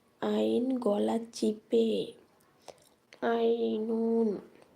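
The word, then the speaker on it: عين: হা আইন গলা চিপে আইনুন আইন গলা চিপে উচ্চারিত হবে আইনুন আর হা গলা স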